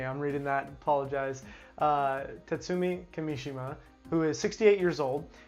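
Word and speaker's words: Kimishima: via Kotaku Japanese publication Nikkei I'm hope I'm pronouncing that right reports that Nintendo's current president president Tatsumi Kimi Seema yes excuse me I'm reading that apologize Tatsumi Kimi Shima who is 68 years old is stepping down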